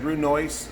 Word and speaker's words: brunoise: is to make the brunoise okay brunoise uh looks like brunoise but it's pronounced brunoise because it's french and it is a 1 8 by 1 8 by 1 8.